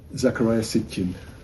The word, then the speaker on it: Zecharia Sitchin: Me gustaría preguntarte si existe, digo, más allá de, pues, de esta interpretación de este hombre, ¿cómo dices que se pronuncia? Zecharia Sitchin.